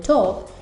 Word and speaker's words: talk: Luego podemos omitir la consonante L, como en talk, que significa hablar, y no pronunciamos la L.